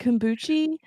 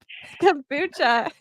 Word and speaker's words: kombucha: I know, Le Leah couldn't kombucha, pronounce kombucha. kombucha for the longest time, and she's like, "Kombuchi? That's Kombuku?" And we're like, "No, kombucha."